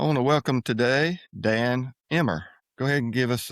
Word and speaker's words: Emr: I want to welcome today Dan Emmer.